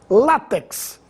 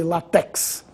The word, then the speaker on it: látex: habitantes da Península Ibérica látex essa palavra deve ser pronunciada com tonicidade na penúltima sílaba não existe latex maquinaria e maquinário as